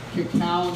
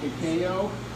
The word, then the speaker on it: cacao: It's cacao, not cacao. Are you putting the syllable on the right syllable?